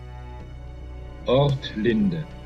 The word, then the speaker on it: Ortlinde: Ortlinde. Ortlind. Okay, so the E isn't there. Ortlind.